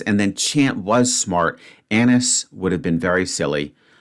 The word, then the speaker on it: anise: Anise would have been very silly. Anise. Let's just quickly check the pronunciation on that.